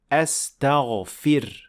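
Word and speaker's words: أستغفر: So what you should do is to pronounce a kasra under the fa, not fatha or anything else. So that's why you would say astaghfir, astaghfir, astaghfirullah.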